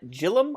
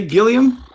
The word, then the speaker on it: Gillan: But then again, that's not always how G's are pronounced. Like here's two different. You have Gillian Anderson, right, from X-Files, but you have Gillian, the girl that was in Community. Gillian, yeah, but this is a last name too, so that could